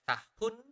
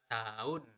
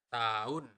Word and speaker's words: tahun: We usually do not really pronounce the letter H, so we do not really pronounce it as tahun, but tahun. Okay, one more time, tahun, tahun, tahun lalu.